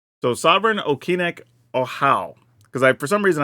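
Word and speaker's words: Okinec Ahau: this one was definitely in there because I pronounced oh it's oh how that's how okic oh how is how you say this all right so Sovereign okic oh how cuz I for some reason I thought I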